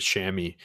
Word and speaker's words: chamois: a different way but we always pronounce it shammy i call the shammy it's an oiled nubuck